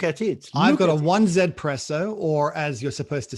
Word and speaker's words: 1Zpresso: So we're going to call it the 1Zpresso from now on. Yes, from now on is the 1Zpresso.